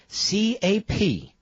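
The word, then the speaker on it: Capterra: Captira, like it sounds.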